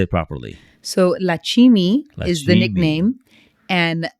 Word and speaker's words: Lakshimi: So Lakshimi is the Lakshimi. nickname, and my birth name is Lakshmi, or also pronounced Lakshmi.